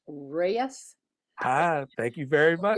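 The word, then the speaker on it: Ruyes: podium by the way my name is r-u-y-e-s pronounced Reyes hi thank you very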